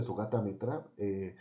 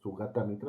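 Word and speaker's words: Sugata Mitra: profundo El pensamiento de su gata Metra lo pueden buscar su gata mientras se escribe su gata mitra así como se escucha y él está pensando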